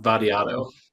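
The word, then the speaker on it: Vattiato: Vadiato.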